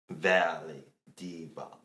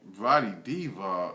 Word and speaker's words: Vlade Divac: He is after Valley Divac. Say his name? Vlade Divac.